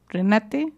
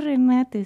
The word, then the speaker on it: Renate: como Oswald y René Renate Renate Renate. Renate. Eh, Rinsby como Ingrid. Creo que debería traerme mi Google Translate, así de no se dice Renate, se dice renate, ¿no?